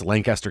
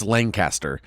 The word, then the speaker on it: Lancaster: It's spelled Lancaster, and everywhere else in the States, Lancaster, California, it's Lancaster. But in Lancaster, it's pronounced Lancaster.